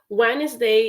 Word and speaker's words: Wednesday: That is a really good way to start because Wednesday is a word in English that has a lot of I would say silent letters because you do write